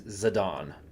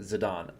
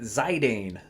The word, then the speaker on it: Zidane: name or zadon because this is a European name and you pronounce it zidon I understand this however 14-year-old American uton Boy Colby pronounced it zidane growing up so that's